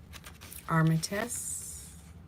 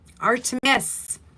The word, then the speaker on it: Artemis: Apollo and Armit um oh I'm pronouncing her name wrong. Where is it? I wrote it down. Hang on. Armitus. Oh, Artemis, Apollo and Artemis, which are the god and